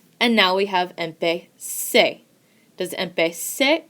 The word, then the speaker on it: empecé: as our example here, you hear that the Z has a S sound. So, without a spelling change, it is pronounced empecé.